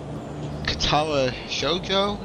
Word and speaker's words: Katawa Shoujo: little game uh called katwa shjo is the actual Japan pronunciation yeah probably so anyways